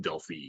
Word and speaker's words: Delphi: named for the place in greece and it's pronounced delphi so that probably is the technically correct way